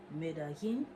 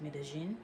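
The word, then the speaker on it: Medellín: I had written, of course, how both the double L sound is commonly pronounced as y in Spanish, so me llamo, but Paisas pronounce it as j. So Medellin, it would not be pronounced like that. It would be pronounced Medellin, like jacket, jam, but jam with a sh attached to it.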